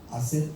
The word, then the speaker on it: hacer: is a Spanish word, hacer algo, H is silent.